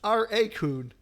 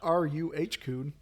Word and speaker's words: raccoon: It's R-A coon, not R-U-H coon.